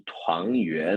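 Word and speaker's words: 团圆: É Tuan no segundo tom e Yuan também no segundo tom.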